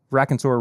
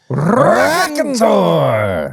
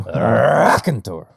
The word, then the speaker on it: Raconteur: This is the first time that we've reviewed Raconteur Rye on the actual podcast proper. You didn't say it right. Raconteur! Sorry. You're right. I said it incorrectly.